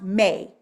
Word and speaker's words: me: And when I go to look it up, they're talking about me's, pronounced may, right?